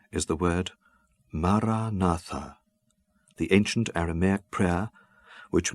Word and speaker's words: Maranatha: And I suggest that you articulate it in your mind, silently, with equal stress on each of the 4 syllables. Maranatha.